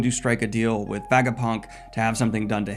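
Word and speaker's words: Vegapunk: well aware of that Baga Punk is officially Vaga Punk just with his head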